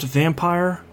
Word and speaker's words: Vampyr: I am continuing my depressing, dark, emotionally terrible slog through Vampyr. Yes, so let's start off with Don't Nod, I Love You. They insist it's pronounced Vampire. It's not.